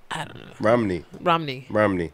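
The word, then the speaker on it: Romany: Romney. Romney. Romney. Like Mitt. Like Mitt, but not white.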